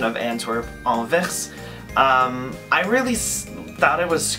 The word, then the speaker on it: Anvers: And for the French pronunciation of Antwerp, Anvers, I really thought it was cool, and even if you pronounce Anvers in English, it sounds like Anvers.